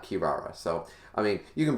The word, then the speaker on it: Kirara: that until it's confirmed no you actually pronounce it the rs not the l's so um that being